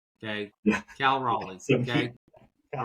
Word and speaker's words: Raleigh: Cal Raleigh. Okay. All right. All right. I'm sorry. I'm sorry. All right. Cal Raleigh. Raleigh, North Carolina.